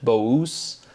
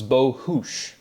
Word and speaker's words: Bohus: And then throughout these videos, I've said Bous. As you can see, just Eastern Europe, right, where there's no us, you, or us is always the kind of like the phonetic or pronunciation. But the last name is actually Hungarian. So it's Bohus, which is kind of interesting and fun.